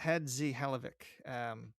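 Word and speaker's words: Hadžihalilović: It's Hadzi Halovic.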